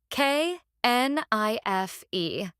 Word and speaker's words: knife: K N I F E. The K is silent. You don't say the K.